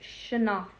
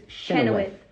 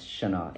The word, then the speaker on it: Chynoweth: It's pronounced Chynoweth, like your shin and then off. You basically don't even say the W. Chynoweth. When you look at it, it looks like it's Chynoweth.